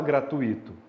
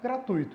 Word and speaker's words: gratuito: tira esse e gratuito você não fala gratuito fala gratuito então é um ditongo última regra de acentuação